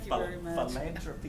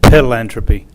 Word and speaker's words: philanthropy: I'll say anything leave did you notice how I said philanthropy philanthropy philanthropy good let's get a picture back here thank youall very much hey Mike he was pronouncing it pil anthropy pil anthropy that one scared me